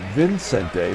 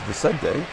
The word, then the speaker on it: Vicente: Okay, Vicente Palacios, you'll see they got his name wrong on his card. They got Vicente, but it's not it. It's Vicente.